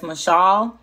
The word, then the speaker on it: mashal: So the word rule is Strong's number 4910, and it's pronounced in Hebrew as Mashal. It's spelled Mashal, M-A-S-H-A-L, and it means to rule and have dominion, governor and reign.